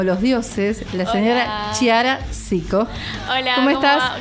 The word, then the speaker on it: Chiara: Como es italiano, se pronuncia Chiara, pero Chiara.